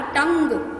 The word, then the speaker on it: tongue: Okay, और बोलने में यू की आवाज़ नहीं आ रही, टंग, बस इतना ही बोल रहे हैं मैम। ग तक आके साउंड फिनिश हो जाती है ना, टंग।